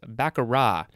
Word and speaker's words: baccarat: t actually so it's baccarat b-a-c-c-a-r-a-t it's spelled with the t but the t is not pronounced we would call that a silent t this is a noun